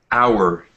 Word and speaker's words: hour: maybe Die thanks um hour the H the H is not pronounced in this word um